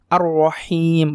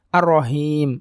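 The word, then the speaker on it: الرحيم: juga sudah kita bahas cara pengucapan khas Seperti apa tadi benar-benar lembut dan sesuai dengan suara nafas ya ar-rohim ar-rohim bukan ar-rohim nah itu batia besar jangan ketuker udah ar-rohim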